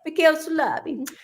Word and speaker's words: Michele Soavi: It's that's I can't pronounce his name. Was it Michelle Soavi? Yeah. Michele Soavi.